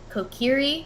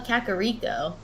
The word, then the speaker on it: Kokiri: to call it um it's kokiri right but i used to call it kakariko i don't know why